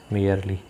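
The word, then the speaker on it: merely: मियरली, मियर का मतलब होता है केवल या मात्र, इसका उच्चारण देख लें, मियर एंड मियरली।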